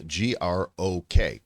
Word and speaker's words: Grok: It's spelled Grok.